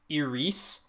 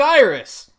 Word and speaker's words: Iris: going with this but is that how I pronounce it wouldn't it be like Eris that's still terrible no it would be like